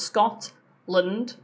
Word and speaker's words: Scotland: So if t ends a syllable, so Scotland has two syllables. Scotland. When t ends that syllable and the next um sound is a consonant, we use t a glossal.